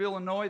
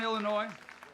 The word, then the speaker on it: Illinois: The next gentleman standing right here is from the great state of Illinois. The S is silent. Yep, bring it on, Illinois.